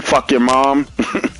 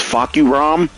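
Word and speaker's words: Fahkumram: So people call him Fuck Your Mom. The way you say his name is Fuck You Rom.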